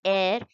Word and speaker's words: heir: The correct pronunciation of this word is heir, H is silent.